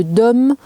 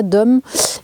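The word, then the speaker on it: Domme: du côté de Sarlat-la-Canéda, de Dom, je crois que ça se prononce comme ça, Dom, et il y a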